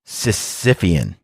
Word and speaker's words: Sisyphean: Sisyphean, that's how it's said, denoting or related to a task that can never be completed.